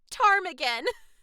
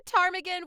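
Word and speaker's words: ptarmigan: Because it starts with a P like pterodactyl.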